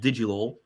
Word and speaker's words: Digilol: So last stream we were on we only had Digilol. It's pronounced Digi LOL, right?